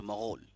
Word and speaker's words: مغول: تو یہ ترک کی 2 اولاد تھی, ایک تھے تتار اور دوسرے تھے منگول یا پھر مغول یا پھر مغل, ایک ہی ہیں, منگول کہیے،